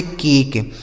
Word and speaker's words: cake: जैसे BAKE, इसे पढ़ेंगे बेक, BAKE बेक, यहाँ देखिए ई का उच्चारण हुआ ही नहीं, ठीक है। CAKE, इसे पढ़ेंगे केक, CAKE केक, LAKE यह लिखा गया आपका लेक, क्या हो गया लेक।